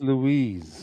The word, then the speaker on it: Luiz: Is this pronounced Ruiz? Douglas Louise is Luiz.